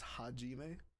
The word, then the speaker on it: Hajime: for some reason here it's spelled hazime but it's hajime and although she's seated